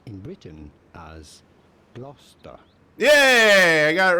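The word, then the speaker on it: Gloucester: t e r is gler Right England it may look like it should be pronounced glister but it is to be pronounced and usually pronounced in Britain as gler yay I got it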